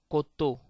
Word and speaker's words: coteau: Coteau. Coteau. As you see, E-A-U, E-A-U in French give the sound O. E-A-U give the sound O. So it's coteau.